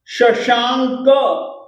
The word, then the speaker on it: शशांक: संपूर्ण मंडल शशांक, देखिए ये पर में क है, क से पहले अनुस्वार है, तो इसका उच्चारण हम लोग ग के रूप में करेंगे।